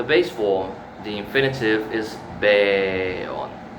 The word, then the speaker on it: beon: This is a long air here. Beon. Beon. So if you speak Japanese or Arabic or Latin, you know what I'm talking about. Sometimes the syllable is longer. So beon, not just beon, beon, beon, beon, right?